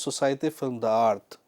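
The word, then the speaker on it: Société Film d'Art: Now the actual pronunciation of this word is society film the art which is as you can see on your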